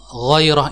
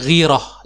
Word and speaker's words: ghairah: Pada pertemuan sebelumnya saya sempat menyinggung tentang ghairah ini ya. Jadi yang lebih fasih bacanya adalah ghairah. Namun kita lebih sering mendengar ungkapannya ghirah ya.